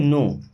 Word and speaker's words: know: अब इस वर्ड में के और डब्ल्यू साइलेंट है, इसे पढ़ते हैं नो।